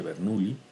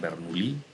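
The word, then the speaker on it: Bernoulli: ecuación se conoce como ecuación de bernuy algunos pronuncian bernouilli ningún problema ambas son válidas es la conservación de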